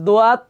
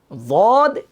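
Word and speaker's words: ضاد: আমরা এখানে কিন্তু অনেকে ভুল করি, আমরা পড়ি কি সোয়াদ, দোয়া, তোয়া, জোয়া, আইন, গাইন।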